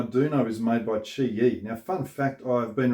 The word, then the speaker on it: QiYi: know is made by chi yi now fun fact i've been referring to them as qui yi and somebody pointed out in the comment that it's pronounced chi and i kind of